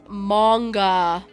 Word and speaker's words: Magna: Magna pronounced manga. I hear it now. Okay. Why don't they spell it with an O?